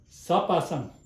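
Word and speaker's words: གཟའ་པ་སངས: So, sa, nga, sa, sam, sapasam, sapasam, post-suffix sa.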